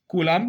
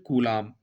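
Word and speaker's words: coulomb: पास कूलाम ध्यान देंगे सीओ य एओ एम बी कलाम की स्पेलिंग में बी आता है लेकिन हम एक्चुअली जब हम पढ़ते हैं तो इसे हम पढ़ते हैं कूलाम ओके हम इसे पढ़ते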